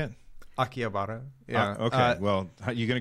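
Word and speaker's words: Akihabara: go to akara how do you say it akiabara yeah okay well you gonna go there and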